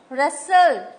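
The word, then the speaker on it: wrestle: बोला knock रेसल देखो रेसल डब्लू टी E silent है वक एल साइलेंट है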